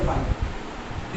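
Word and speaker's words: phi: वो अब सोचो इसका प्रोनाउंसिएशन इतना ऑड है ना, लोग इसको फेमस कर दिए फाई के तौर पे, ये हाई नहीं है फाई।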